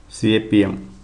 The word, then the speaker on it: CAPM: Capital asset pricing model popularly known as capm and pronounced as cap M model pronounced as capm capm